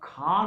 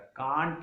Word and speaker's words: can't: अब खान होता है, कांट नहीं होता। लोग बोलते आई कांट do, this totally wrong. ये रॉन्ग प्रोनाउंसिएशन है।